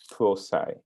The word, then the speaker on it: Prosci: tell us and so the founder of proi which stands for professional science so it's the pro in professional and the seci in science so the way the owners of the company pronounce it is prai yeah basically really about